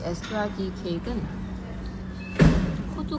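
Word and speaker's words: Eszterházy: 드디어 이 케이크 이름 을 어떻게 발음 하는지 알게 됐어 요 . 그곳 을 에스테르 하지 라고 부릅니다 .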